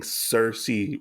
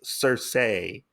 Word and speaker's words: Cersei: saying Cersei wrong like apparently it's Cersei not Cersei they're just saying it in this that way really cuz I want to feel like I'm saying it wrong s say like with a little bit of attitude and we find out